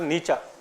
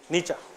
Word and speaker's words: Nietzsche: than a bad reputation frederick nietzsche it is pronounced nietzsche nietzsche have you googled petra in karnataka means a